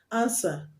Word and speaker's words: answer: is silent we sit the p before t is silent answer the w is silent sword the w is